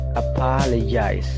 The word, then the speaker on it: apologize: Apologize. Nah, di situ dibaca j ya, ada simbol aneh seperti itu dibaca j. Apologize.